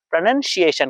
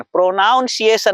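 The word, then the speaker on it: pronunciation: तो कुछ ऐसा ट्रिक्स आपको प्रोनंसिएशन का मालूम होना चाहिए। क्या होना चाहिए? प्रोनंसिएशन। प्रोनाउंसिएशन नहीं।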